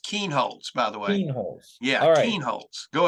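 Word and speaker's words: Kienholz: body but talking about 2023 four-star quarterback Lincoln kind holes no no it's pronounced Keen holds by the way yeah go ahead talking about four-star quarterback Lincoln Keen holds um out of Pierce South Dakota T.F Riggs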